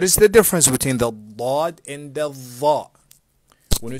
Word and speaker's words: ضاد: Is this a ضاد or a زاد? It's a ضاد, not زاد. A lot of people in many, many countries, they pronounce a ضاد as a ضاء, which is incorrect.